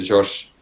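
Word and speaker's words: Georges: with my newborn son george's right yeah it's actually pronounced uh the french way we say josh okay i'm i'm really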